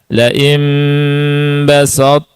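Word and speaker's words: بسطت: tha masih terdengar sifatnya tidak dibaca murni huruf ta, tidak dibaca basat ta tapi apa bas taat taat Ta ada huruf th yang terasa sifatnya. Ya, kita baca sama-sama. Lain basta lain basta ilaiya yadak. Silakan sanya biasa sa sa bukan baso. Bas bas tapi bas ta.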